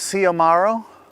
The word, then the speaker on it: Xiomaro: The name is Somaro. The X is pronounced like an S.